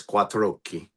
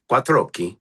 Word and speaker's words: Quattrochi: Quatro and then oki. Quatroi. And you run it together.